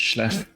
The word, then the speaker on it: Slough: It's canon over here that Slough is pronounced Schleff.